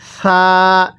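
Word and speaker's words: ث: এই হরফটির নাম হলো ছা স্মরণ রাখবেন এই ছা আমরা নরম করে পড়বো তাহলে যদি আমরা এর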